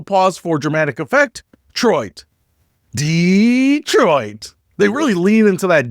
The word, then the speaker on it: Detroit: Let's talk about Detroit, or should I say Dee-troit, or maybe Detroit, because apparently how you say it determines whether